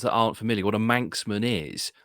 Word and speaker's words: Manx: one person from Manchester they are called manx but that's spelled m-a-n-c-s uh whereas manx as from the Isle of Man is spelled m-a-n-x so it sounds exactly the same but two completely different